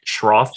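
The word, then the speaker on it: Schroth: effie so effie what is the did i pronounce that right shroff method yes method it's a method that was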